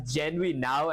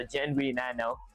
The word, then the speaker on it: Genvi Nano: I pronouncing it as Genui now and then I realized it's not now. It's Na N O. So, Genv Nano, how you doing?